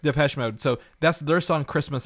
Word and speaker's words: Depeche Mode: Is that how you pronounce it? I think it's Depeche Mode. Depeche Mode.